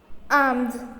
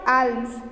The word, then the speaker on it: alms: Alms means खैरात. It's not alms. The appropriate pronunciation is alms.